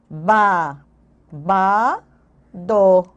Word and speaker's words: babado: idade cadca C dua ba ba do B repete o b ba ba do quando a gente pronuncia essa palavra babado a gente diz u no final não é babado quando